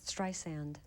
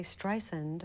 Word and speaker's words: Streisand: I learned a lot do you mind if I correct your pronunciation of my name please strand I'm sorry so many people do that and I always wonder am I really famous you know how could they say strend or if or xand